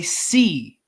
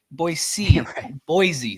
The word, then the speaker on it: Boise: Just Just like everybody in Idaho will tell you, it's Boy, Boise. Boise. There's no Z in Boise.